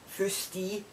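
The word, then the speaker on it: foostee: when you pronounce that you pronounce it f-o-o-s-t-e-e firsty and it means moldy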